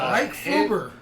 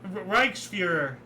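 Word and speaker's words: Reichsführer: Well, Reichsfuger. SS Reichsfuger. Yeah, well, no, it's you're close though. Reichsfuhrer or something like that.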